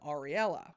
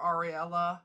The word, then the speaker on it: Ariel: just a second, and Ariella. Oh my god, I am so sorry. So I called her Ariella a bunch of times in the episode. Her name is Ariel. It's spelled A-R-I-E-L, and yeah, please.